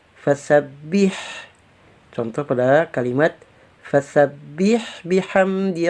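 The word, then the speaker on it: فسبّح: Kalau tanpa tasdid kita membacanya fasabbih, fasabbih. Nah, kalau ada tasdid berarti fasabbih.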